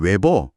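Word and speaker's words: weber: 50번 감은 코일에서 자속이 0.5초 동안 0.1 외버 외버라고 읽네요.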